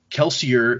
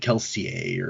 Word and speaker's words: Kelsier: He says in one interview that Kelsier is the way that even he pronounces it, but in universe they pronounce it more French. It's like Kelsier, or however they would say that in French.